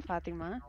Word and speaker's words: Fatima: Spiel okay hi guys I'm Fatima um that's actually how you pronounce my name but some people can't